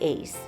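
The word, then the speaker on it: Èze: on that beautiful beach French pronunciation of this Village is something like Ace Ace is a 12th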